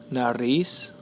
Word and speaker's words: nariz: Por ejemplo, tenemos nariz. Nariz, the stress is placed on the last syllable.